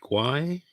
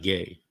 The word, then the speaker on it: Guay: are you good we have Darren is it gwai yes is that am I pronouncing it correctly yeah it's not gay no it's not he's not gay no no